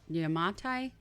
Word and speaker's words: Yamatai: capital is situated in yamate yamatai it's tai it ends in i don't know